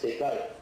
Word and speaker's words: Descartes: En inglés se usa la pronuncia francesa, el francés, Descartes.